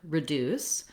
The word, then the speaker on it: reduce: So looking at the word reduce, we have second syllable stress. And so the deuce syllable is long and has a clear vowel, and the r syllable is short and has a reduced vowel.